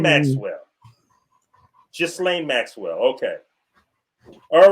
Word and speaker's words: Ghislaine: Yeah, how you pronounce his bitch name, man? Ghislaine Maxwell. Ghislaine Maxwell.